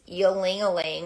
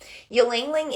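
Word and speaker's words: ylang-ylang: use right now is yelling or a lingling depending on how you pronounce it ylangling is the oil of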